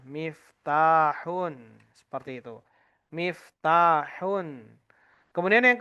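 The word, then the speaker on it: مفتاح: Kalau kita mendapati kata mim, fa, ta panjang, kemudian ha, maka itu bacanya adalah miftahun.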